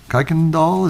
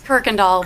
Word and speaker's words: Kirkendall: for health Freedom keikendahl is that right did I say it right it's Kirkendall Kirkendall doesn't look at all where's the R I know I asked